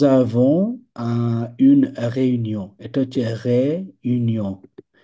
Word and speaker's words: réunion: এটা হচ্ছে réunion। লাস্টের এনটা উচ্চারণ হবে না।